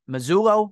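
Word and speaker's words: Mazzulla: So assistant coach who from last year, Joe, is it Mazzullo?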